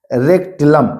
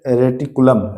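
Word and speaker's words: reticulum: ई एन डी ओ पी एल एस एम आई सी endoplasmic रेक्टुलम जी हां रे रेटिकुलम रेटिकुलम होता है एंडोप्लाज्मिक रेटिकुलम तो ध्यान रखना है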